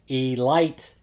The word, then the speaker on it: Elite: and then then after that came the baltimore e light giants elite elite elite giants they want you to pronounce it light really yeah it's spelled elite